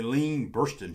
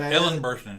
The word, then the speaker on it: Ellen Burstyn: The Elaine Burstyn Show. Oh my God, Ellen Burstyn Show.